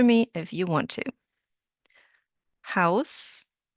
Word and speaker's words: Haus: Well, the letter combination AU in German sounds like Au in cow.